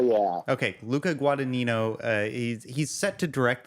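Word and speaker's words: Guadagnino: gued guo guad guo the second g is silent guad guadino guadino okay L yeah okay Luca guadino uh he's set to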